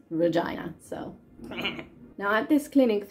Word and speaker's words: Regina: It's not pronounced Regina. It's actually pronounced Regina.